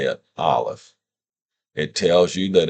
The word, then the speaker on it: aleph: Here it is written in English so that you can say it, aleph.